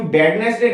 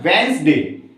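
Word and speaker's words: Wednesday: इसको तो obviously wrong पढ़ते हैं, इसको वेडनेसडे बोलते हैं, बट इसको कभी बैडनेसडे नहीं प्रोनाउंस किया जाता, इसको बोलते हैं वेंसडे।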